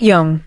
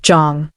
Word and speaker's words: Jeong: Not Young. Not Jiyong. Jeong. The correct weight on the correct syllable, like she had taken 30 seconds before walking in to make sure she got it right.